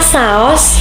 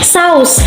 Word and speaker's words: saus: Kata ini merupakan kata tidak baku karena terjadi perubahan pelafalan fonem U menjadi fonem O. Menurut KBBI, kata saos tidak baku, seharusnya menjadi saus yang berarti kuah kental berwarna merah.